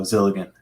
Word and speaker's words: Zilligen: Gilligan, but with a Z, so Zilligen.